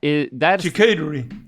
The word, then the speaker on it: charcuterie: That's charcuterie.